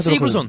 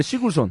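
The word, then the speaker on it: Sigurðsson: 저는 이제 시굴손이라고 하더라고요. 시그루손. 네. 그것도 좋아요. 현지에서는 어. 시굴손이라고 하더라고요. 어허. 아, 진짜예요? 그렇게 현지 발음으로 다 가실 건가요? 아니, 그건 아니죠. 제 편의상. 예. 네, 시굴손. 시그루손. 네. 현지에서 시굴손이라고 해요.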